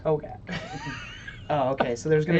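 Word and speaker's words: Hogaak: I think it's pronounced Hogak.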